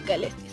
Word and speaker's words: Caelestis: Nos vamos hacia Pueblo Caelestis. Sí, se pronunciaba así, Caelestis.